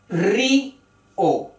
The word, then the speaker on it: Río: Río y Raúl parecen palabras simples de una sola sílaba, pero son palabras de dos sílabas. Río, Raúl.